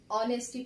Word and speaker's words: honesty: अच्छा एक चीज देखिए, यहाँ पे ऑनेस्टी में मैंने इसे लिखा तो HONESTY है, लेकिन हम पढ़ते क्या है, इसे ऑनेस्टी पढ़ते हैं। क्यों, क्योंकि H यहाँ पे क्या होता है, साइलेंट होता है, H साइलेंट होता है।